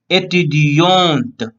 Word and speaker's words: étudiante: Okay, so here for the female last word will be so she will pronounce étudiante.